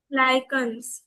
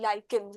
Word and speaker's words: lichen: British English में हम लोग उसको lichen पढ़ते हैं. लीचेंस पढ़ते हैं ब्रिटिश इंग्लिश में, और बाकी नॉर्मल वाली में लाइकेंस बोलते हैं.